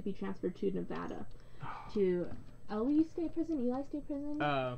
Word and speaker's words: Ely: To Ely State Prison? Eli State Prison? ELY? What has it? Ely is how it's pronounced.